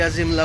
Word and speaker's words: Azhimala: बाद निकलेंगे अजीमाला बोलिए, अजीमला बोलिए, और आगे मलयालम में लोग क्या बोलते हैं वो आगे जाके पता चलेगा। लेकिन उसका स्पेलिंग जो है वो है AZHIMALA, अजीमला।